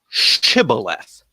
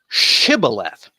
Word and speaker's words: Shibboleth: grain Cybil F and there are different ones that pronounce it Shibboleth and in Gilead in in Jephthah's part of the country it pronounce it Shibboleth so that's what they